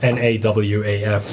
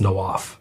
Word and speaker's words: Nawaf: myself so it's it's the actual Arabic pronunciation is nawaf but it's uh the easier way to say it's no off okay let's talk about